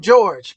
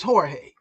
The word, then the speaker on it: Jorge: and uh jge yeah you call them George but it's Jorge okay I just go